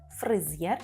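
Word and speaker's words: fryzjer: очевіще же фризєр фризєр тут добре треба вимовляти букву сполучення з й зєр фризєр - це перукар жінка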